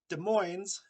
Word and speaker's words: Des Moines: The S in Des Moines, Illinois, Arkansas, are also not pronounced because of the French that held those areas before.